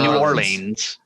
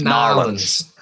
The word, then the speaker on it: New Orleans: That's how they say it. I was going to say New Orleans, but it's New Orleans.